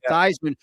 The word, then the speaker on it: Theismann: But Theismann, he changed it to Theismann to rhyme with Heisman just to give himself a better chance.